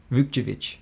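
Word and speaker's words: Vukčević: Tristan Vauovich. Vchevich.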